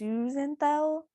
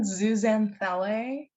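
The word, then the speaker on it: zooxanthellae: So an example is zooxanthelle. I said that wrong. How do you say it? You mean zooxanthelle? Yeah.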